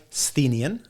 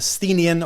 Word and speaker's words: Sthenian: I've heard a few people say Sthenian. I think that's how you pronounce it.